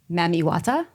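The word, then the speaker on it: Mami Wata: the pool right before Aisha is visited by mamiwata did I say it right yes you did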